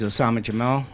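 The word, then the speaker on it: Oussama Jammal: Again, my name is Osama Jamal, spells O-U-S-S-A-M-A.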